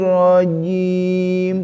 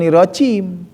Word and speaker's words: rajim: Tuh, bukan irojim. Masih banyak Pak pengucapan irojim. Masih banyak. Salah enggak? Enggak salah sih. Tapi kurang fasih gitu, kurang tepat. Enggak salah itu, ya. Tidak meleset jauh gitu. Hanya kurang tepat gitu.